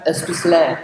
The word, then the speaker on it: Aspeslagh: Let's welcome Ken Aspeslagh, as it's supposed to be pronounced.